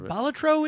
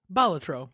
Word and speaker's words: Balatro: which I guess is is batro is how you I was going to I was going to bring this up and I was waiting for it to so we've just been mispronouncing it I guess for 12 months batro cuz the creator of the game said batro so that's yep that